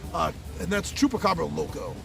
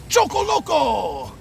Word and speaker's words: Chupacabra Loco: this game, and that's Chupacabra Loco. Me and my friends, we mispronounce it from day one, and the mispronunciation is stuck in our head, and we call it Choco Loco!